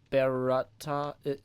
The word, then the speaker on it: berätta: Jag vill bara berätta... How do you say that beretta in the middle? Berätta. Okay, so this A with the dot over it, so this would be more like most than must?